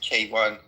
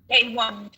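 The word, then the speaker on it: Keyvan: My name is pronounced K1. It's like a letter K and number one. I love that. K1.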